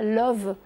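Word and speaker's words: Lauw: qui est très beau c'est qu'elle habite à Love vous imaginez un nom pareil love c'est magnifique alors ça s'écrit pas comme en anglais ça s'écrit la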